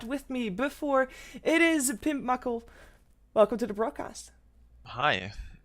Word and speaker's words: Pimpmuckl: Yeah, it's hard, it's German, like, I would say it's Pimpmucke, but this is so hard to, like, pronounce, like especially when I come from English.